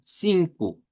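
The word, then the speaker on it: cinco: Entonces, aquí ustedes pueden decir algo como sin y luego la Q, sin q. Eh, si la la K, perdón, si la K se les hace complicada, véala como una C y dígala y díganlo así, sin Q.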